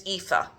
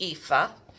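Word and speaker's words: Aoife: And this is Miss Etha. Nice Irish name. And uh it's spelled A O I F E, but it's pronounced EA.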